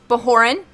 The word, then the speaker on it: Bajoran: So, I mean, I can understand why somebody would look at that and automatically assume it was like a Spanish J instead of like just like a regular soft J.